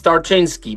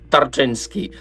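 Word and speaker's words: Tarczyński: Is that right, Tarczynski? It's not easy to pronounce it. It's Tarczynski, but I know that you have a lot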